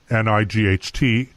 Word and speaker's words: night: Well, have you ever wondered why the word night, N-I-G-H-T, is pronounced night, but it has a GH in it?